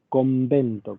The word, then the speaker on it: convento: Cuando ustedes piensan, por más que convento se escribe con N, lo pronunciamos con M. Decimos convento, con una M adelante de la B larga. La pronunciamos así.